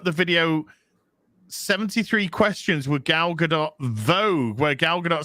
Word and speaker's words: Gal Gadot: bucks look up the video 73 questions with gal gadot vogue where gal gadot says on 12 26 her name is indeed pronounced gal gadot okay uh bmp studios where